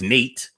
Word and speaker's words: Nat: in Davidson County Tennessee net pronounced knate knate love will grow up